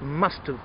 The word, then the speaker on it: must've: in all of these the contraction of have is pronounced like uh in put push foot book okay that's your sound so it must have been love it must